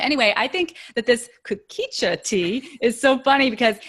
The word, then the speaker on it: kukicha: You say it kukicha? Kukicha. Oh no, I've always said a kukucha.